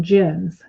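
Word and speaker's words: djinn: masses they call them gins and it's spelled d as in dog j-i-n-n but it's pronounced gin and marielle and guyley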